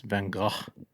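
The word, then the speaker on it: Van Gogh: I always say Vince Van Go and it's Van Go, right? Van Go.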